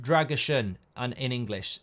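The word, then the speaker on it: Drăgușin: turkey thanks mate um drason is pronounced pronounced dragushan and in English says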